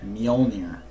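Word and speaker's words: Mjollnir: How do you say the Mol'jir? Mjolnir.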